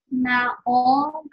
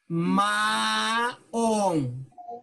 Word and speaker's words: maong: Pauda naong na pantalon. Okay, can you repeat this word? Naong. Maong. Say it.